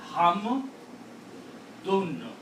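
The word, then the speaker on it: حمدٌ: So this is hum, dun. Because two dhammas or two pesh gives the sound of noon.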